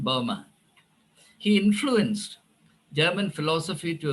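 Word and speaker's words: Böhme: You're referring to Jacob Boehmer? I don't know who wrote that book. Jacob Boehmer is a German mystic. Yeah, by the way, Jacob Boehmer, Boehme, pronounced Boehmer.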